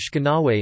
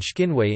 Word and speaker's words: oshkinawe: For example, the word Oshkenawe, young man, of Algonquin and southwestern Ojibwe, stress, Oshkenawe, is Shkenawe in some dialects of central Ojibwe and Shkinwe in eastern Ojibwe and Odawa.